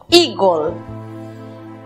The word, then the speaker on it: eagle: La primera sílaba, recordemos que la combinación de las vocales EA se pronuncia I. La siguiente sílaba está compuesta por E muda, precedida de L y otra consonante. Matizamos con O, gol, eagle.